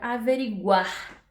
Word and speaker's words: averiguar: Então, por exemplo, aqui eu tenho a palavra averiguar. Averiguar. Averiguar, ela tem 9 letras e 9 fonemas.